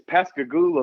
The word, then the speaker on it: Pascagoula: How do you pronounce that? The town I was born in is Pascagoula, Mississippi.